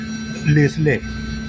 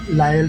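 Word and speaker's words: Lisle: जर असेल तर त्याचा स्पेलिंग पहा एल आय एस एल लेसले पण याच प्रोनान्स करताना लायल स्टेशन करतात म्हणजे आम्ही आता दुसऱ्या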